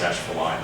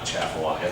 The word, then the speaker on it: Atchafalaya: And generally they're found off of natural tributaries, so Mississippi River, Bayou Teche, the Atchafalaya, which it is pronounced Atchafalaya, not Atchafalaya. This is true. Atchafalaya, Bayou Lafourche as well.